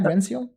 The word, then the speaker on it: Rensiel: Do I say it right, Rensiel? Yeah, that's correct. It's a very simple way of saying it.